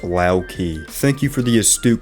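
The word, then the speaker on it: Loki: Locky's name is pronounced Laoki.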